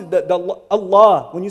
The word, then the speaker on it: Allah: Even the name of Allah is unprecedented. Even the way it's pronounced that the Allah when you say Allah, you don't say Allah anywhere else in Arabic. Even the way it's pronounced is unique.